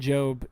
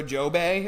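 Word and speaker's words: Jobe: You didn't add like an extra syllable to it. Like you didn't go joey or something like I I like it.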